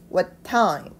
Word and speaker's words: what time: 부분은 what time이라고 있는데요 여기서 포인트는 타임에 의미가 있는 단어에 강세가 주로 들어갑니다 그래서 이렇게 돼야 됩니다 What time 그리고 깨어나세요라는 표현은 do